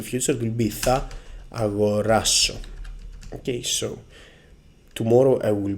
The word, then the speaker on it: αγοράσω: If we want to use the verb in the future, in the simple future, it will be θα αγοράσω.